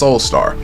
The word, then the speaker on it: Soulstar: Hey, all you gotta know is pronounced like the first part is pronounced, and the last name is pronounced the last name is pronounced Soulstar.